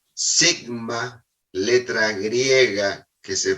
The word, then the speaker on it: sigma: Y esta letra griega que se pronuncia sigma, letra griega que se pronuncia sigma, representa el error estándar o desvío estándar.